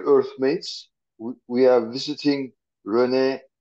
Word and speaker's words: René: dear Earth mates we are visiting Rene libenthal uh have I pronounced your then correctly it's correct hello Earth